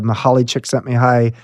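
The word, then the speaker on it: Mihaly Csikszentmihalyi: book famous book and you're the first person I've ever heard to say his name right it's was he calls himself mik you had to practice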